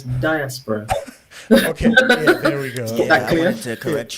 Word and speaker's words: diaspora: to life okay well we pronounce the word first of all diaspora as diaspora okay yeah there we